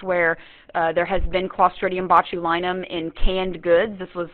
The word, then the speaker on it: botulinum: you have, is Clostridium botulinum. And I love that one because it sounds like my last name, Linum, right? But it's Clostridium botu, B-O-T-U-L-I-N-U-M.